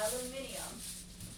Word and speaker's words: aluminium: Say it like the British do. Aluminium. What'd you say? Aluminium. That's how you say it? That's how British people say it.